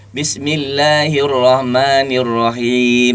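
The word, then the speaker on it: بسم الله الرحمن الرحيم: Tinggal suara ke hidungnya dihilangkan. Tadi full lewat hidung gitu. Bismillahirrahmanirrahim gitu ya. Karena tidak ada suara hidung di situ. Ya, hanya huruf-huruf hidung yang boleh masuk ke hidung.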